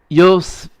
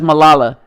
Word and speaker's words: Malala: I don't know how to pronounce that. Yosai? Malala? Yeah, Malala. Yeah, no, that's Malala. Yeah, y'all got that.